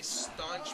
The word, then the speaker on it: staunch: Lenny G is a staunch proponent of it. Staunch word of the day rhymes with punch but not spelled like it.